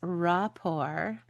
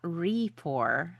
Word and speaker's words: rapport: It's rapport, not rapport.